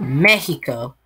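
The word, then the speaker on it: México: like to call it mexico the x is pronounced like h and a bunch of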